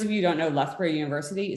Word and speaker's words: Lethbridge: do a postdoc at lochberg university in the uk i'm pronouncing that wrong um you pronounce it 10 different ways you'd still be wrong all times but for those of